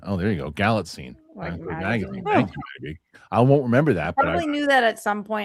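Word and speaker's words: Galitzine: Uh Maddie B Nicholas Gallitzin's last name is pronounced Gallitzin. Oh, there you go. Gallitzin.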